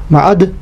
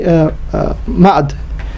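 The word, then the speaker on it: Ma'add: the son of Ma'ad, which is the best, most correct pronunciation, with the Shadda on the Dal, Ma'ad. And then some books say Ma'ad.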